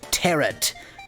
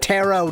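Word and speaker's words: tarot: mysterious power of the tarrant it's like a carrot but he'll to summon the higher turret yes I know it's pronounced taro don't leave a comment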